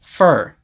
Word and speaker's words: for: For is often pronounced fur. I usually only say for clearly like that when it is at the end of a sentence. For example, I don't know what he wanted it for, but usually I say it for. For example, it's for my mom.